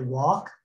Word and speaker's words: Walke: my name is walk it's pronounced like you walk down the street i'm a white male